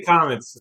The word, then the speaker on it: Comitz: your name wrong the commits or commits am I seen your name wrong I say comets I say comets but all right well